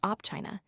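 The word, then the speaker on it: Opčina: From the S station of Opchina, pronounced Opchina, CP 425, ordinary trains only stop here, directly in a half HR.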